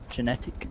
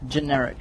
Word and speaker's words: Generic: Indeed, we're going to see Workshop being the first defended site here for Genetic. Is that how you pronounce it? Generic.